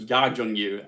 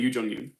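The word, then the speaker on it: Youn Yuh-jung: Apparently it's pronounced Ya Jung-yoon, and I've been saying Yoo Jung-yoon.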